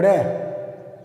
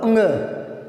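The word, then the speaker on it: ङ: क ख ग घ ड़, ऐसे बोलते हैं। तो क ख ग घ ड़ ये नहीं होता, इसका सही उच्चारण है क ख ग घ अंग, अंग है ये, और ये है, ये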